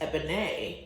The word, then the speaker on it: Ebon: your name and I say my name is eban um and it's spelled e b o n accent now if